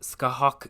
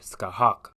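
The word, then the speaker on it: Scáthach: There's quite the debate on the pronunciation of this name, but Skahawk is the one I'm sticking with for this video.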